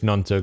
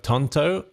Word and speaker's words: Gnonto: Gnonto and Somerville, good combo. Is that Somerville the ace goal scorer? Merson on Sky called Gnonto Tonto. Says Michael.